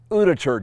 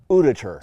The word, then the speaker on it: Uditer: and today it's the order electric skateboard it's pronounced uditure Dave uditure so I've had the board for a full